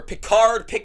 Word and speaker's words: Pickard: Where Pickard, whatever you want to say his name. I know it's Pickard, but I've said Pickard, whatever, my whole life.